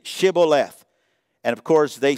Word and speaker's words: Shibboleth: They would say to him, "Then say Shibboleth." And of course, they said Sibboleth, for he could not pronounce it right.